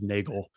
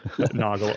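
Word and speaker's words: Nagl: I always thought it was Nagel, but yeah. Noggle.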